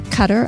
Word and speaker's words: Qatar: champions coming up in Doha Qatar I think is the way you pronounce on how the locals do and that's coming up